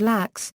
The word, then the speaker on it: LAX: its iata airport code LAX with the letters pronounced individually LAX is located in